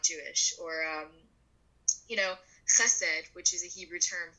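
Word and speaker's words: חסד: Or, Chesed, which is a Hebrew term for charity work, will be pronounced as Hesed because it's a little harder to pronounce the ch in the native tongue.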